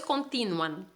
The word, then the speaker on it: continúan: y continúan lo mismo no es continúan si es continúan entonces hay que acentuar la uv para que